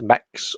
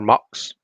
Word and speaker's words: Mx: So what my company is trying to do, and documentation and whatnot, is bring in the prefix MX, which is pronounced mix or mux, and that is it's a prefix that some, but again probably not all, non-binary people use.